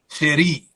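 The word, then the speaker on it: chéri: my darling is French so c-h-e-r-i with the The Hyphen on top of the eye so yeah so it's actually pronounced cherry yeah Andrews Air Force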